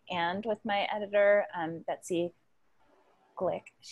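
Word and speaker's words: Gleick: with my editor, Betsy Glick. It's G-L-E-I-C-K, and I asked her how to say it, and then I forgot. I think it's Glick, Betsy Glick.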